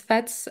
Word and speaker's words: feTS: Yeah, it's feTS. The name is from fetch and TypeScript.